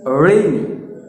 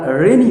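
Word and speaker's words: rainy: দেখো আমি করছি, রেইনি, রেইনি। ওকে, সো আমরা রেনি বলবো না, আমরা বলবো রেইনি।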